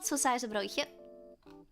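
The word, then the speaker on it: saucijzenbroodje: I swear, because you pronounce all of these like an S. Seizen.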